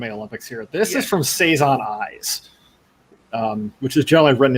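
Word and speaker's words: 3×3 Eyes: the obscure anime olympics here this is from saison eyes um which is generally written as three three x three eyes uh that's that's the title but apparently it's it's pronounced saison um this is a old early this is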